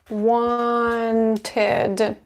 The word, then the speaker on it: wanted: Wanted.